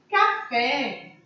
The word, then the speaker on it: café: Café é oxítona terminada em E.